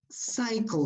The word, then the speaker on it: cycle: Cycle. Normally, letter, well, not at the beginning of a word, like you, for example. But in between, normally letter Y is pronounced I.